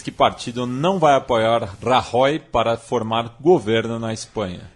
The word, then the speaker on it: Rajoy: partido não vai apoiar rahy para formar governo na Espanha eu falo rajoy porque eu sou humilde entendeu falo pronúncia brasileirada tô nem aí entendeu Sou Aldo Rebelo